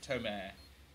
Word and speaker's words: Tomer: Tomer. Tomer. That's exactly how it's pronounced.